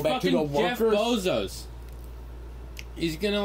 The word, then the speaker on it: Bezos: Bezos? No, it's Bezos.